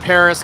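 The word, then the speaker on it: Perris: uh yeah it's like paris california people call it paris like like but it's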